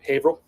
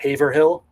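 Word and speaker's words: Haverhill: Going up to Haveril, Massachusetts. Did I say that right? Haveril, not Haver Hill.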